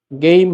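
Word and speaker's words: 게임: বা কাজ শেষ করা গেইম হাদা অর্থ গেম খেলা এটার উচ্চারণ কিন্তু গেইম হবে আবার খেম বইলেন না কারণ এটা ইংরেজি ওয়ার্ড এজন্য পরিবর্তন হবে না প্রথম বর্ণ পরিবর্তন হবে না।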